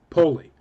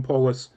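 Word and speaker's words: polis: called whatever City they happen to be in poly or we pronounce it polus P O I never said City never once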